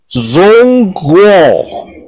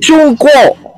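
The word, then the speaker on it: 中国: Yang benar itu Chungguo. Negaranya ini adalah negara Chungguo. Bahasa Inggrisnya karena bahasa Inggrisnya nggak bisa CH, jadi pakai ZH, Zhongguo. Seperti itu.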